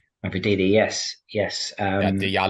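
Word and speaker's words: Mavididi: Is that correct pronunciation? Mafadidi, yes.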